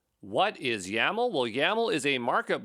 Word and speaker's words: YAML: and it will work yaml rhymes with camel uh that's the way